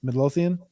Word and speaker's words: Midlothian: Mid- Midlothian?